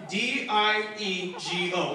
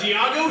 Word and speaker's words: Diego: People see my name, D-I-E-G-O, like San Diego. You all heard of San Diego, right? Yes. This is how my math teacher pronounced it first day of school. Is Diago here?